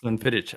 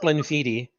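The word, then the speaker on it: Glenfiddich: 15 years gleniti yeah no it's not Glen fittit I I learned something today as well it's pronounced gleniti yeah all right well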